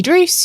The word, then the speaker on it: Druce: I'm Druce, your host with a silent G, and today we'll be